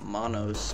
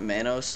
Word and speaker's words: Manos: I guess it'd be pronounced Manos, because that's how you say hands in Spanish, which is what the title of the movie is based on. But I've been calling it Manos, like mayonnaise, for so